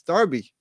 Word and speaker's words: Derby: 78 yes when is derby with an e pronounced Derby but it is that's just the way it is it's Derby you know what I mean Derby County you just have to get with the locals